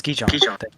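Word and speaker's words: Gijón: It's Gijon. Yeah, Gijon. He tell you. Thank you, Sasha. That's how I pronounce it, right, Sasha?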